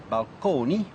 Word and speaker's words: balcony: lexicon to describe them so balcony still pronounced at that time in the italian manner balcony as well as fresco